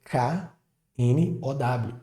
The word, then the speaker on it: know: A palavra now, de agora, parece muito com a palavra know, que é K-N-O-W, que é de saber ou conhecer. A palavra know tem a mesma pronúncia da palavra no, de yes, no.